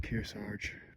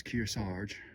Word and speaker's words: Kearsarge: So, we're on top of Karge Pass. I've been pronouncing it wrong. It's Kirge.